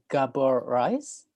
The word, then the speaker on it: Gábor Reisz: hiya hello hi uh i hope i pronounced your name correctly uh gabor rice yes okay correct okay that's great um